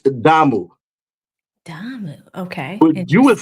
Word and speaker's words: damu: so many years, but decided to mispronounce it. See, DAMU, right? How would you say that? B-A-M-U. B as in Delta. Yep. A as in Alpha. M as in Mike. U as in uniform.